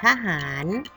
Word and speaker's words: ทหาร: นะ คะ ต่อ ไป ท. ทหาร อ่าน ว่า ทอ ทะ หาน เห็น หวง ร่วม กัน ฆ่า แล้ว ลาก ลง มา แบบ นี้ เลย ท.